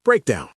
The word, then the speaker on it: breakdown: Our first word is breakdown. Breakdown. Break down. The stress is on the first syllable.